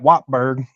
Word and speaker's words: Wartburg: Well, you got Wartburg down the street, and they call that Wattburg.